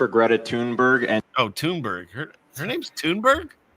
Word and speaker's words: Thunberg: You have He said Thornburg. Yeah, he said Thunberg. He said it right.